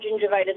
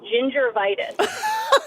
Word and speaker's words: gingivitis: so constantly produced um pronounced the word gingivitis as gingervitis.